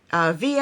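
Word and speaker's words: Veah: Last but not least, we have Via and Sunny. I think she pronounced her name Via. It's V-E-A-H. We're going to call her Via.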